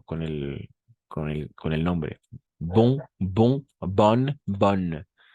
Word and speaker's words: bonne: Bon, bon, bonne, bonne. O fermé. Bon es bon en nasal. Bon, fermé. O ouverte. Bonne. Es como una O abierta.